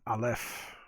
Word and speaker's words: Aleph: So, anyways, let's talk about Aleph, pronounced Aleph.